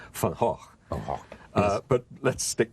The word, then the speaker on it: Van Gogh: You call Van Gogh, we call Van Gogh. I know you do, I know. And in the play, you learn that his real name, which he says nobody can pronounce, is Van Gogh.